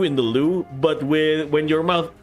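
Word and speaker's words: Lü Bu: Lu Bu. That's how you pronounce it.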